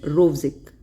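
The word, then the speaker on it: Rovsing: In this N is silent, Rovsik.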